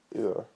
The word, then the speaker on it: oor: And oor would be over, so it's oor. So, like, if you were going to say Oor Willie at that comic book, exactly same as that, Oor Willie.